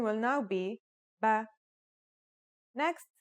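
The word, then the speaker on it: بِ: the pronunciation will now be ba next this is a Kasra this is now pronounced as B and finally here's the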